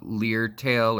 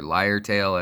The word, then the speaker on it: lyretail: if they have any leered tail or lyretail as as it's actually pronounced so that's one little